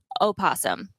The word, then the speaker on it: opossum: to technically pronounce the O, but people just don't.